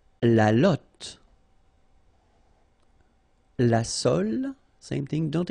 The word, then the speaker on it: lotte: and then la lotte, final E not pronounced, lotte, lotte, okay, la lotte, alright.